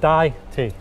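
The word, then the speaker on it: Dajti: Now, people, when you look at the word Daiti, it's very confusing. But it's really just Daiti. Like, yeah, if you the word Dai, D-I-E, and the letter T, Daiti. Like, that's how you say it.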